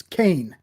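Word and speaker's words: Cain: get her name wrong cassand crane is that right close it's Kane Kane it you were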